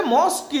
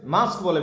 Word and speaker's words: masque: আচ্ছা, মস্ক কি জিনিস? এক ধরনের নাটক, যেটা মস্ক এক ধরনের নাটক, বুঝতে পারলে? মাস্কও বলে, ঠিক আছে? মাস্ক বলে, বেসিক্যালি বলতে মস্ক নয়, মাস্ক বলে।